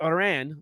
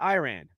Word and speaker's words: Iran: the American side about how to pronounce Iran not Iran okay uh it was